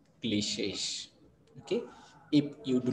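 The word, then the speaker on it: cliché: It is called cliches. You have to pronounce it cliche, and its plural is cliches.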